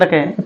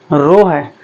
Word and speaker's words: rho: रखेंगे रो, क्या है, रो है, रो, इसको क्या पढ़ते हैं, रो, इसका स्पेलिंग होता है RHO, रहो नहीं, रो, क्या, रो, L अपॉन A,